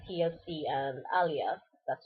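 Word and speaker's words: Aaliyah: since 1997 um before that like TC and Alia that's how you pronounce her name um were my biggest like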